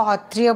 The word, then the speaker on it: सत्रिय: सत्रिय को हौत्रिय बोलते हैं, वहाँ पे स का इस्तेमाल नहीं होता है।